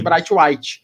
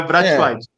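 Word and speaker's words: Braithwaite: Martin Brat, né, que todo mundo chama de Bright White. BR White, meu amigo, é Brat White.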